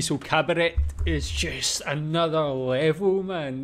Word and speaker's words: Kabarett: German Cabaret, or I guess he pronounced it with a hard T, so Cabaret is just another level, man.